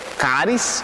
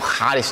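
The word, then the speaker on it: χάρις: E realmente, isso é um jogo de palavras que Paulo usa também, porque caris ou charis, tem uma outra maneira de pronunciar mais complicada, e carismata.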